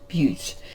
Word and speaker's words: Butte: It's pronounced Butte.